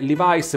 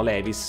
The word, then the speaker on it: Levi's: il dente della pronuncia la pronuncia corretta è Levice perché leice è la pronuncia americana e questa è un'azienda americana dal momento però che in Italia più o meno tutte le persone dicono Levis è un po' come